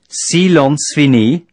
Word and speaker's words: silence fini: Silence fini, pronounced silence fini, means, silence is lifted, and is used to signify the end of the emergency and resumption of normal traffic.